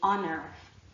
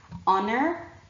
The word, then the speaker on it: honor: out of your mouth when you say honor as opposed to when you say heaven right try it honor heaven and you you will